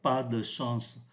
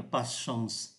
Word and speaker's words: pas de chance: Ở đây chúng ta để ý là không phát âm ký tự ơ giữa như thế này. Người ta không phát âm mạnh là pas de chance, mà đọc nhanh là pas chance.